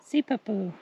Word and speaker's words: Sipapu: All right, pronounce it for us, Mrs. C. Sipapu. Sipapu.